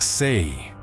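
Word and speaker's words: 四: In Cantonese, the number four is pronounced say, which sounds nearly identical to the word for death.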